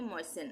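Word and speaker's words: moisten: तो यहां पे टी का उच्चारण नहीं होगा। इसको हम पढ़ेंगे मोइसेन।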